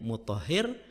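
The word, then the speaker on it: مطهر: ada ha ada Ro Bagaimana cara bacanya lagi-lagi dengan menggunakan ilmu sharaf kita bisa tahu ternyata itu berasal dari kata thaharo yuohiru nah di situ nampak kalau di Isim fa'il menjadi muthahir kalau menjadi Isim maf'ul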